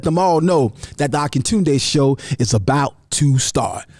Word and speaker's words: Akintunde: Akintunde. Daily I shall. It's the Akintunde Show. Say what? Say what? You heard what I said. That's right, y'all. The Akintunde Show. Spell it. Akin Tunde.